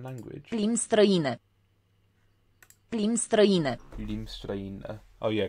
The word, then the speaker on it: limbi: Oh yeah, because the last I isn't pronounced. Which is weird, which is probably why the other word for limbi with two I's is then pronounced limbi. Like one I is silent, one I is not.